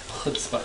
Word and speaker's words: chutzpah: Chutzpah. See, look at that. I know. He's going to grow up to be a nice Jewish boy. Because he can say chutzpah.